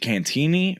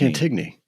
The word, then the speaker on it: Cantigny: Is it Cantini or Cantigny? It's Cantigny. Depends who you talk to. No, it's Cantigny. There's a G in it. G before N. I'm with you. Yeah, Cantigny. It's spelled that way.